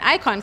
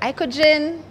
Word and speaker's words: IKOJN: the other way and icon came about so the J is silent okay it's a bit confusing to most many people when they see the the name uh they're like ah is that icogen I conjure what other